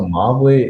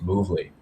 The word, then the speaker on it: Movly: So Movly essentially used to be pronounced Movely. And what ended up happening is that it was Movely, but someone ended up making a typo in the name. And they changed it up to Movley. And then we were like,